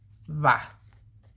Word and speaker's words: hva': It's spelled H-V-A apostrophe. Va.